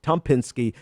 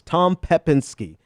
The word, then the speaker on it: Pepinsky: was at TR Tom Tom Pinsky decom um I said that name so wrong it's Tom pepinsky Tom pepinsky decom it's